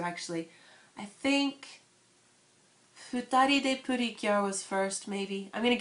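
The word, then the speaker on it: PreCure: So you might see it spelled like pre-cure, but it's actually pronounced putty, like for small, kind of. So, but it's Putty-Cure. And the very beginning, the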